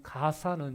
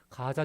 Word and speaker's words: 가자: 발음이 약간 우리 한글로 번역하다 보니까 발음이 좀 다른 거예요. 그래서 가자라고 해도 되고 가사라고 해도 되고 그런 것입니다.